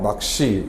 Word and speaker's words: 낚시: 뭐 낚시 같은 경우에 낚시는 쌍 기억이 오는 경우에 기억 대평로 바뀐 뒤에 뒤에 오는 시가 안 울린 예사 소리니까 된 소리 되기가 돼서 낚시 이렇게 발음이 되죠 그래서 쌍 기억이 기억으로